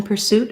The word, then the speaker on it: pursuit: So similar issue of second syllable stress in pursuit as well. And it is an S sound. So you're going to see pursuit. And you'll hear a light short, but still have that sound, per, and then